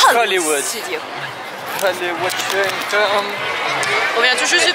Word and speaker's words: Hollywood Studios: Il faut prononcer ça comme dans l'attraction à Paris. Hollywood Studio.